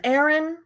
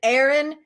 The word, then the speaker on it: Erin: is the east and aaron is the sun oh actually my name is spelt e-r-i-n not a-a-r-o-n but they do sound the same kind of like a homophone thanks for joining me